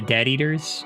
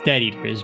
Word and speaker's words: Death Eaters: to do with the dead eaters uh it's basically the group of people that yeah combats the Death Eaters oh it's close okay yeah you said it wrong it's dead eaters but you know eaters